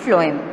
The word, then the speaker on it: phloem: Remember its pronunciation, it is xylem and phloem.